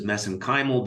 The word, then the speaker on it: mesenchymal: And of course, you study MSC stem cells, which I pronounce as mesenchymal because that's how they pronounce it in Ireland.